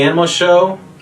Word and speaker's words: Animo X: Welcome back to the Animo Show, where the X is silent.